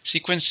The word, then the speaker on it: sequence: Sequence is the order and time that something happened. It's a noun. How many syllables are in sequence? 2, stress on the first.